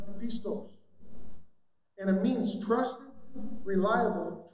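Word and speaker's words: πιστός: You know, in the Greek, faithful is pronounced pistos.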